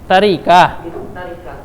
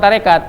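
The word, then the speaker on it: تركة: Tarikah. Jangan lupa itu bacanya bukan tarekat, tapi tarikah.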